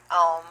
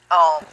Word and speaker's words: Om: The Hindus speak of this Holy Ghost as the Om. It's A-U-M. A stands for Akar, or creative vibration, U for Ukar, or preservative vibration, and M for Makar, or destructive vibration. Om, and it's spelled in this text as A-U-M.